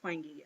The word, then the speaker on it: Twenge: Yes, it's pronounced Twenge. I don't know why. I would be inclined to pronounce it Twenge, but I have actually heard her say it, and she says Twenge.